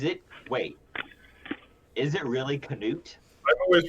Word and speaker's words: Knut: Is it really Canute? I've always pronounced it nut, but Yeah. I've always pronounced it nut. I've been listening to the audiobooks and they say Canute, so Oh, that's What the hell?